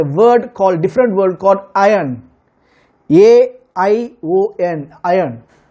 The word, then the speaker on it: aion: Called, different word called आयन, AION, आयन। उसको pronouncement ऐसे करते हैं, आयन, नॉट IRON, आयन, आयन। Okay, दूसरे रीति से बोलते हैं, ईयन बोलते हैं। Okay, Ian.